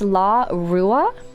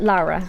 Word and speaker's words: Lara: If you want to break it down, it's Larua, but Lara is kind of how it becomes when it's fast.